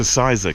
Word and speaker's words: Sizergh: Uh, actually, sorry, I think I pronounced that wrong. Welcome everybody to Ciza Castle.